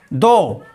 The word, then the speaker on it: though: यदि GH letter शब्द के बीच या अंत में आए तो वहां पर GH साइलेंट होता है।